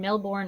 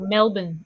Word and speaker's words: Melbourne: This case happens in Melbourne, Australia, or Melbourne, Australia. Is that how you say it? Melbourne. I know when they say it, it's completely Either different. It's like Melbourne.